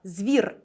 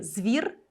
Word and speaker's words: звір: приголосні в такому випадку у нас може бути подвійна вимова звір де з твердий і звір де з м'який дуже раджу користуватись саме